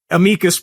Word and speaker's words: amicus: But this is this is in my view and I wrote this in an uh amicus brief or amus brief depending on on how how you like to pronounce it.